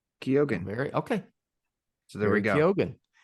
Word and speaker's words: Keoghan: Keoghan.